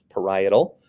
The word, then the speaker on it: parietal: You have the parietal lobe kind of middle back a little bit, highlighted in the yellow, parietal, that's how you say it, parietal.